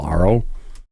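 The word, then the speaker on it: AARO: You know, ARO rhymes with Charo.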